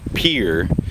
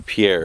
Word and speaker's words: Pierre: dawned on me yesterday as I rolled into Pier even though it looks like it's supposed to be Pierre apparently it's pronounced Pierre uh yesterday um I got caught